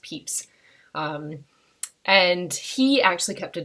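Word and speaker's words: Pepys: a man called samuel peeps his name looks like it would be pronounced like peppe's but it is actually pronounced peeps and he actually kept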